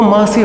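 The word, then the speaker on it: Monsieur: दूंगी उसको यहां पर इसका प्रोनंसिएशन जो है वो महसिय होता है क्या होता है महसिय ठीक है ऐसा प्रोनाउंस होता है।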